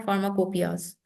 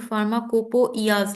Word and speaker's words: फार्माकोपिया: Pharmacy में कहते हैं फार्माकोपियाज। फार्माकोपिया, जब हम लोग इसको लिखते हैं इंग्लिश में तो देखें इसके स्पेलिंग फार्माकोपोइयाज लिखते हैं। स्पेलिंग को नोट करें, कोपोइयाज, लेकिन बोलते क्या हैं, कोपिया।